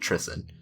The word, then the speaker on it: Trisyn: saying it right you are saying it right Tristan um and the walls of Tristan are just